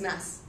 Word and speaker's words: Mads: doesn't work no no the D is silent so it's mess um you you touched